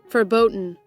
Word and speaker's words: verboten: How is the What's the correct pronunciation of this? Verboten.